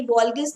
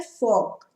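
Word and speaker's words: Volksgeist: अब देखो ये मैंने भी प्रोनाउंस गलत किया, ये वॉल्गिस्ट नहीं है। जैसे हमारी फॉक्सवैगन कार आती है, लेकिन फॉक्सवैगन आपने नाम सुना है ना, वो स्टार्ट वी से होता है, लेकिन हम उसको प्रोनाउंस क्या करते हैं, फॉक।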